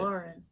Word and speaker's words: Lahren: Lahren. Yeah, that's how you say it.